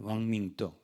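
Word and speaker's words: 王明道: 중국의 발음으로는 중국 발음으로는 왕밍도.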